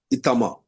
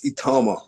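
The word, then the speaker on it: Itauma: So um the corre correct pronunciation of your name is Itama. It's Itama.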